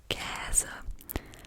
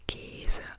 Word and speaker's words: Käse: That's an So Käse is pronounced Käse, but where I live, people say Käse as if it were spelled with an E.